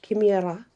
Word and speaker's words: Chimera: the original name is kimira um or chimera it depends where which culture you go to how it's pronounced she marries um well